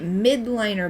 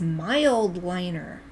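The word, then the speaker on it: Mildliner: Oh, I've been calling it mid-liner, but it's mild liner.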